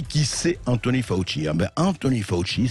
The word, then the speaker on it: Fauci: Anthony Fauci, ça s'écrit F-A-U-S-C-I, mais en origine italienne.